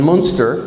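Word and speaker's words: Münster: at a shop in Monster Germany or moonster am I saying it right moer moonster thank you Tom Thomas is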